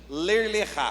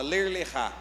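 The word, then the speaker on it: Lech Lecha: O tema é ler lechá. Não tem nada a ver com o que daqui, né? Mas é assim que se escreve, só que a pronúncia ela é diferente. Ler lechá, fala ler lechá.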